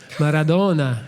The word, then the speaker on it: Maradona: and not ask you without maradona maradona that's how you say it yeah it's at one